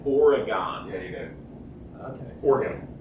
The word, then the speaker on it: Oregon: Oregon you do okay organ it's organ no it's no now you me up it's organ or oron oron it's it's almost like two syllables it's or it's not origon I'm sorry this is